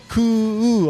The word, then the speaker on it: Kuu: Just like I said before, don't be misled by the spelling. We're talking about a C sound, okay? So, for example, with Majin Kuu, it's Kuu, a long vowel, right?